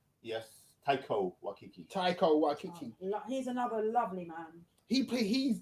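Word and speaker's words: Taika Waititi: played by you pronounce his name Taiki Waititi. Yes, Taiko Waititi.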